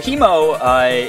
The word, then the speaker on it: Haemo: exhausted but anyway so he mo it's pronounced like the british way i'm pretty sure like